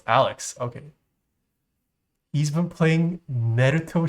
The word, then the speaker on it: Alyx: Oh, is it not Alyx? Is it Alex? How do you pronounce it? Alex? Alex? Oh, it's Alex.